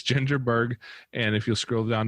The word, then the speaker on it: Baerg: going to warn you, Baerg is not spelled the way you think it is. It's spelled a little bit funny. There's an extra silent A in there. But it's Ginger Baerg, and if you'll scroll